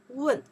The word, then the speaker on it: 问: Wen, okay?